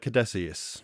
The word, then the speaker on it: Caduceus: how do you pronounce it? Catechus? Catechaeus symbol? Yeah, the Caduceus.